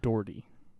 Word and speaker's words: Doherty: Now, I want to hear you say this last name because Matthew Doherty. Okay, when I heard the announcer say his last name, he does not pronounce the R.